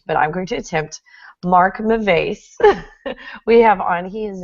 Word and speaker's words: Mark Mauvais: So without further ado, here is Mark to pronounce his name properly. So, Hello, bonjour, guten tag, namaste, konnichiwa. It's Mark Mauvais.